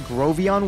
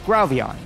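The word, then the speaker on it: Grovyle: I was kind of confused what Grovion was and realized I was just pronouncing it wrong. It's Growvion.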